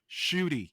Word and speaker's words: Ncuti: N is silent. Okay. When Oh, there's an apostrophe, you yeah. pronounce the letter. When it's together, Cootie? it's silent. Shooty, you simple Shooty.